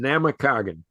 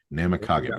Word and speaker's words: Namakagon: Yeah, you were close in the pronunciation. Namakagon. Namakagon.